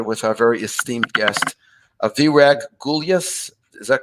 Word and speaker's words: Virag: Welcome, Virag. I want to make sure I'm pronouncing your name correctly. Did I say it right? You really nailed it. Yes, Virag.